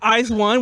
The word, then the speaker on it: IZ*ONE: already split but no it really is pronounced eyes one which is why the the star is there oh it's funny YouTube